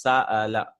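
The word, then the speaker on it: سأل: I'm not saying Sa'ala or something like that, right? I'm not skipping that. I have to stop and pronounce this. Sa'ala.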